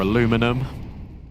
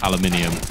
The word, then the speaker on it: aluminium: um aluminium or aluminum as the kids say in America, but I'm from the UK unfortunately, so it's aluminium.